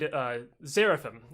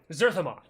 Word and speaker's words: Zerthamon: So a guy named Zerathim, it's Zerthamon. Is it spelled with an X? No, it's a Z.